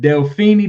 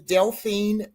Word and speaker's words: Deline: And is it Delini? Did I pronounce that right, Queen? No, but that's okay. You're not the first. Uh, my name is Deline.